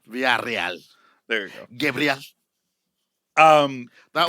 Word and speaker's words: Villarreal: Villarreal. And then you roll your R's in the middle of it. Villarreal.